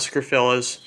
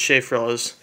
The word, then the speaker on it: Shea Frillis: Sean PVS 101's Shea Frillis Productions, A Message Inside Out Fan 2001, that's how you say it, not Scrofillas, it's Shea Frillis.